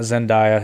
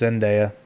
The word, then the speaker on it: Zendaya: i know it's boring it's not zendaya it's just zendaya just like it's spelled did i say zendaya